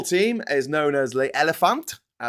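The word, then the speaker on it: Éléphant: The Ivorian football team is known as Les Elephants. Elephant. They don't pronounce the T, and has produced world-class players such as Didier Drogba and Yaya Touré.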